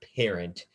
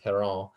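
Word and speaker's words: Parrant: perrault now it's not parent uh it's a french name so it's pronounced perron and he was a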